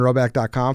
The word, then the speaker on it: Rhoback: to Rowback joggers.